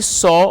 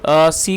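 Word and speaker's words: saw: दोस्तों, ये सी की सेकंड फॉर्म है सॉ, और इसकी जो करेक्ट प्रोनाउंसिएशन है वो है सॉ। बहुत से लोग इसको सा पढ़ते हैं जो कि गलत प्रोनाउंसिएशन है, और इसका मतलब होता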